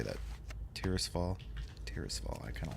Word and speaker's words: Tirisfall: Tirisfall. Tirisfall. I kind of like that. I always said Tristafall, I think, when I used to play. But looking at the spelling, that's not.